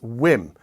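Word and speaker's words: Wiim: Is it pronounced whim or is it pronounced whim? I've been pondering this for a couple of months, but finally I have a definitive answer for you. It's Whim.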